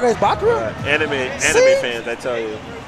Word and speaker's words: Bakura: It's Bakura. What? I'm like, okay. So the correct way is Bakura?